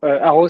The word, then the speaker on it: Aro: Aro, ça s'écrit A R O. Il y a pas de H caché, il y a pas d'autres lettres cachées qu'on entend pas. Non, ça s'écrit AO.